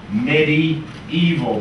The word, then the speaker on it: medieval: doctor is a meaningful history right should be pronounced midi evil because this part comes from a Latin I